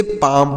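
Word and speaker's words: palm: पी ए एल एम तो इसे पाल में पढ़ेंगे पी ए एल एम पाल्म है ऐसे पढ़ेंगे नहीं सर इसे पाल्म नहीं पढ़ेंगे तो फिर क्या पढ़ेंगे सर इसे पाम पढ़ेंगे पी ए एल एम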